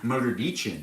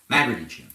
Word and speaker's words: Magrdichian: can also follow me on Instagram at Magrdichian. That's right. If you're watching me on Balavoon, on this Balavoon account over here on TikTok, it's not my main account. My main account is Magrdichian. Magrdichian.